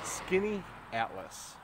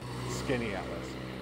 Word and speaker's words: Skaneateles: locals printed out and in guides they'll say skinny Atlas that's pretty close but if you are a very local person here in the area you actually know it's skinny at us so there's that A and E SK skinny